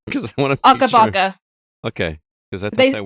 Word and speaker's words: Akabaka: Akabaka. Okay, because I thought that word meant something else. They actually say it like when the game loads up. It goes Akabaka.